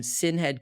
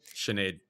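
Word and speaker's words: Sinéad: You can see her cage 40 bout, but also worth keeping a note, she fought Sinhead Kavanaugh, right? Sinead. That's how you say it over there.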